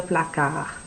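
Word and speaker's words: placard: pines you know la placa la placa le placa so yes there is a d at the end but we're not looking at this d you're not going to hear that b that's it it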